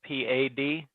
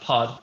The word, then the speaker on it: Pad: i believe it's spelled p-a-d and there wasn't why it's p oh it's not pronounced pad it's pronounced pod pad okay you put